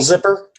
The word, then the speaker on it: Zypper: Did you misspell zipper? Because zipper spelled with a Y.